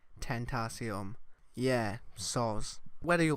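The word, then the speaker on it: Tentacion: me for the video I pronounce X's name as potassium when I should be saying tain't aciem yeah so whether you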